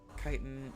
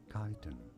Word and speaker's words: chitin: In British English, it is normally said as ky-ten.